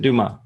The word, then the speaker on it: Dumas: Please pronounce it Dumas.